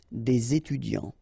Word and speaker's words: des étudiants: word after, étudiants, students, so it starts with a vowel, so you should make the connection, the liaison between the two, des étudiants.